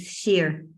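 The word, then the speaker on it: Shir: S-H-I-R, it's Sheer.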